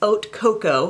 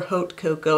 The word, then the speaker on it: Haute Cocoa: The next one is Haute Cocoa, or Haute Cocoa if you like to pronounce the H.